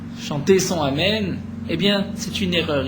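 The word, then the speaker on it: אמן: On ne répond pas ni à Amen Khatoufa. Amen Khatoufa, nous dit Rashi, c'est un Amen Khatouf qui est attrapé. C'est-à-dire, on va le happer, on ne va pas prononcer le Aleph correctement.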